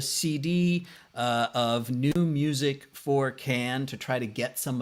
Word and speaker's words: khaen: the instrument the instrument there you see the name is spelled a number of different ways it is pronounced can it is the bamboo